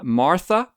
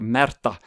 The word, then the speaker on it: Märtha: Listeners may be aware that Princess Märtha Louise of Norway, I know probably the Anglophiles of this podcast would pronounce her name Martha, but she is called Märtha.